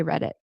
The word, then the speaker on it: Reddit: Some people will pronounce the T, but as I see you already know naturally in some other instances, you don't have to necessarily pronounce the T as a true T. You can say read it like a glottle stop, which is what I